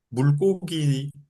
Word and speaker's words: 물고기: 물 받침에 리을이 있고 그다음에 또 결합하는 초성이 기억이기 때문에 물고기 경음으로 나고 불고기가 여기는 경험이 아닌 소리로 날이 아무런 이유는 없어요. 그런데 불고기 물 불고기는 고기고 물고기는 공기입니다.